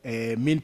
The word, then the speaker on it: mesne: But there are these things of what is called in law mean profit. Normally it is spelled mesne, as though it is mesne profit, but it's mean profit, which the National Land